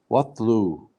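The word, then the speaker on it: واتلُ: Wa, and we don't say it because it's not, there's no hamza on the top.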